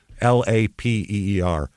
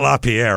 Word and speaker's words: Lapeer: Lapeer. Lapeer. No. Not LaPierre. I would have gotten. No. I know Pierre. I could have pronounced that, but Lapeer County, I guess.